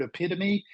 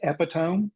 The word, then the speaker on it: epitome: I read the word epitome as epitome for a long, long time because I had never heard it orally, but I knew what it meant, and I read it accurately every time I got to it. I just didn't have the right pronunciation in my brain, and